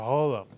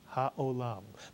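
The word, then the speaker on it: העולם: The word is not holam or holam. No, it's haolam, melech haolam.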